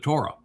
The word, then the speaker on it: Towrah: And Haya explains how to pronounce the other letters, as does the Ah sound at the end of Towrah.